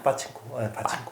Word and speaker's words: 파친코: 빠친코 이제 이민호 주연이고 이제 윤여정 주연인데 파친코 아니야? 빠친코. 빠친코라 그래? 원래 빠친코죠. 빠친코. 이거 일본식 발음이잖아.